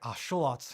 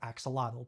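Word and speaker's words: axolotl: By the way, the name axelottle is pronounced more like asholot in nwat, the language of several indigenous groups from central Mexico. For now, we're going to stick with the anglicized pronunciation of axelottle, but whatever you call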